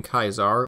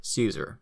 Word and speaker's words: Caesar: or in German Kaiser from the Latin kaisar or as we more commonly pronounce it Caesar this decision later paved